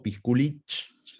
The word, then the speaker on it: Piskulich: estamos con el ingeniero Ricardo pisculich pronuncie bien pisculich o pisculich muy bien bien Cómo